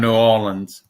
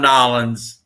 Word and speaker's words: New Orleans: you're ever down around new orleans and i said it right howard no new orleans you ever down around nolan's look up howard petrie